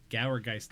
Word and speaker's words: Gourgeist: Gourgeist, like gourd. Oh, Gourgeist. Yeah. Not Gour, Gourgeist.